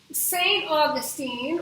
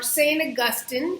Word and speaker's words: Augustine: is a guy named saint augustine or saint augustine either way to pronounce that is correct and he is a